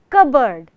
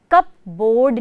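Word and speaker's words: cupboard: ए आर डी बोर्ड लेकिन जब दोनों मिलाते हैं तो हम क्या बोलते हैं कबर्ड कप बोर्ड नहीं बोलते हैं हम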